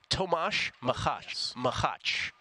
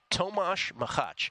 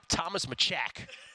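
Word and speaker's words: Tomáš Macháč: Tomas Machach. Tomas Machach, which in our phonetic pronunciation would be Thomas Machak. But it's pronounced Tomas Machach.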